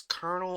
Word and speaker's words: colonel: Is this colonel or colonial? That's That's Colonel. Thank you. I cuz I've heard both. I don't understand why that's pronounced as Colonel when there's no R.